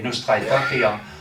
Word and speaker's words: Nostra aetate: du texte voilà et nostra estit en latin euh ça veut dire de notre temps ou à notre temps hein nostra et et ça s'écrit a e t a T e puisque c'est du latin alors euh le texte